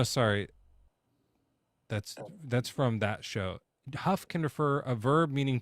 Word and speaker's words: Hough: It's pronounced huff. You huff a horse.